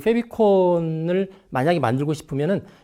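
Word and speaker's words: favicon: 영어로는 favorite icon, 그래서 페비콘이라고 발음을 하는데, 여러분들 혹시 인터넷을 검색하다 보면 주소창 에 보시면 주소가 나오죠.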